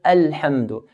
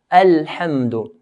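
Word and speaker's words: الحمد: Then we have the word Alhamdu. Alif here is a light letter. Arabs pronounce the alif in a light manner. And not a. So, Alhamdu.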